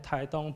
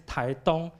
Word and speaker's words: Taitung: And the other one is Taitung. Dong, T-U-N-G, Dong is the Chinese pronunciation of this Chinese word, and this